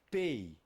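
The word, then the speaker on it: פא: Olha só o nome, Pei. Está começando com o quê? Com um P. Então vai representar um P.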